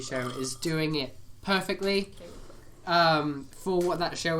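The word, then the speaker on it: Kaley: Kelly Quaker. Yeah. Is it Kelly or Kelsey? Kaylee. Kaylee. Kelly Quaker? I think. Yeah, Kaylee Cuoco from, like, the Harley Quinn TV show is doing it perfectly Kelly Quaker.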